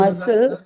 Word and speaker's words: muscle: சில பேர் Muscle. இல்ல. So muscle, இப்ப மசில் கரெக்டா உச்சரிச்சீங்க.